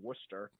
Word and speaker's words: Worcester: boston way of saying it's spelled w-o-r-c-e-s-t-e-r you would say worcester oh here we call it worcester um i live right